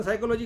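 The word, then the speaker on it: psychology: ignite है अग्नि है साइकोलॉजी में पी साइलेंट है लिखना है लेकिन उच्चारण नहीं करना है तो मूलता शब्द क्या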